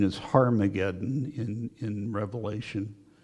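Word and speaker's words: Ἁρμαγεδών: it that in Greek there's a diacritical Mark that indicates rough breathing so it's harmageddon in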